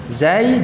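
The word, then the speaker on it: ز: Zai jahr, sin hams, ya. Bedakan pengucapan antara keduanya, ya. Sama-sama mengalir suaranya, namun untuk zai tertahan nafasnya, untuk sin mengalir nafasnya.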